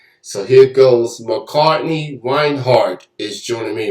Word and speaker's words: Reinhardt: i got the last thing right is it wine heart that's how you pronounce it yes it is oh yes i